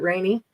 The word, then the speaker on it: Renee: Um, it's spelled our it's spelled Renee like French. Oh, right. He pronounces it rainy.